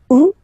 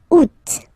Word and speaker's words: août: And then here, two options, because, two options are acceptable in French. The first one, you don't pronounce the final T. Ou. Second one, you pronounce it août.